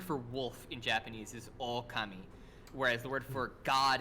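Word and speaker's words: 狼: So like the O at the beginning is short in the word for God, and it's long in the word for wolf. And that just means that it's pronounced slightly longer.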